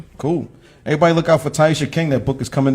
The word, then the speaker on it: Teiyjsha: no but yes so the J is silent um so on uh